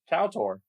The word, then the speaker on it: KOTOR: My refutation of that AI generated noise right there is, how do you pronounce the acronym for Knights of the Old Republic? KOTOR.